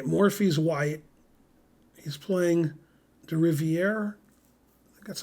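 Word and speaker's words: Rivière: every time okay morphy's white he's playing the Rivier that's how you pronounce his name uh in 1863 this was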